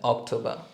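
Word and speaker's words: Oktober: September day September ওকে সেপ্টেম্বরের পর আসে আমাদের অক্টোবর অথবা আর্টিকেল দেয়া অক্টোবা খেয়াল করবেন এখানে কিন্তু সি হবে না কা এ অক্টোবা এরপর নভেম্বর নভেম্বর আর একেবারে শেষে আমাদের ডিসেম্বর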